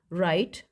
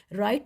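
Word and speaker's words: write: राइट wrong of lamb इनमें जो underline words हैं जैसे के इसमें नाइफ में के राइट में डब्लू रॉन्ग में डब्लू ऑफर में टी एंड लब में बी यह साइलेंट लेटर है और बच्चों को इनकी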